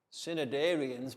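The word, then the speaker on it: Cnidarians: Synod Ariens begins with a C, but then N. Yes. N-I-D-A-R-I-A-N-S. Synod Ariens. Okay, so the students, when you get this one, this is how you have to spell it correctly, like putting the letters. Remember, C-N, which is quite a strange spelling.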